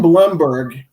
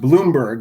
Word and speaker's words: Blomberg: did very well ron blumberg pronounced bloomberg even though it's spelled blomberg he is uh he